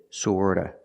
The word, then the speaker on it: sort of: of and sort of remember the T and sort of is pronounced with a fast D sort of sort of sort of